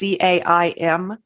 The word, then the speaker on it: Caim: The Celtic circle, which is also called the Caim circle, which the Celtic words I don't always pronounce right, but it's Caim.